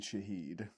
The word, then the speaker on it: Shaheed: Rashid, how do you pronounce his last name? Rashid Shaheed.